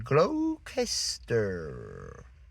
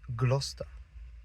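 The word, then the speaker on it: Gloucester: And then you see Glouester and you're thinking glowester. No, it's just Glouester.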